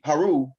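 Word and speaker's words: Horus: but after you pass horace who is really haru or horror however you want to pronounce it right because different people from their perspective pronounce it different sounds say har some say haru some say horrors psalms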